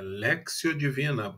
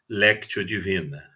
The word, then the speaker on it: Lectio Divina: da Paróquia do Rosário, por ter me ensinado que é Lectio Divina a pronúncia correta, e não Lectio Divina.